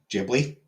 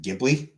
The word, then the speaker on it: Ghibli: So yeah, Miyazaki himself pronounces it as uh as Gibli. The Italian word would be pronounced Gibli.